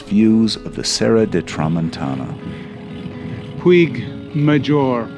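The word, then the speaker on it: Puig Major: Pig majour. Pig mahor. Not sure how you pronounce it. It's pronounced puj mahor.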